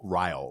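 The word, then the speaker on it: Ryle: who's named Riley all Riley Riley which is rhymes with Kyle which I think is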